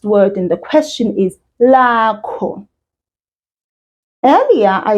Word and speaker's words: lakho: And then the last word in the question is lakho. Earlier, I said. I was talking about my name. Now I've changed. That last syllable has changed. It's now KHO and no longer MI.